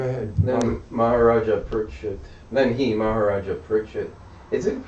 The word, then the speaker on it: Pariksit: Maharaja Pariksit. Is it pronounced Pariksit?